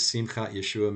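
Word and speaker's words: Simchat Yeshua: name you've already heard a couple times is simcat yeshua messianic fellowship that is spelled u s-i-m-c-h-a-t-y-e-s-h-u-a and the reason i'm explaining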